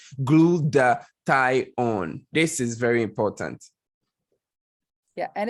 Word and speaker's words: glutathione: something that is called glutathione right it is pronounced glued the tie on this is very important and if you're like